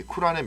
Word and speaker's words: 쿠란: 놓고 나니 라고도 하고 꾸란 이라고 하는데 5 원래 발음은 쿠란 에 더 가깝다 그래요 그래서 경전 그들이 뭐